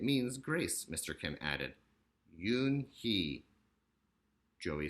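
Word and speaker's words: Unhei: Kim and then turned to Joey she nodded slowly yes it's pronounced Yoon hee it means grace mr. Kim added Yoon hee Joey said slowly this time perfectly it made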